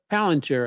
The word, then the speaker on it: Palantir: um, Palantir. I think is how you pronounce that.